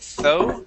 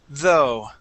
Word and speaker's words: though: Now here, in the word though, this is going to be a voiced th. You had said though, pronouncing an unvoiced th. Okay, let's add that vibration in. The word is though.